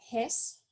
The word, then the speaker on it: Hess: La ley de Hess, o Hess, si queremos pronunciar el H, yo pienso que ese muchacho era de Alemania, otra vez, muchos alemanes en química. Entonces yo pienso que la pronunciación de la letra H es correcto.